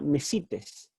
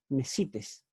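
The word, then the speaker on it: μεσίτης: La palabra mediador en el Nuevo Testamento, en el idioma original en griego, es la palabra mesites, en realidad mesites, tiene el acento en la iota, mesites.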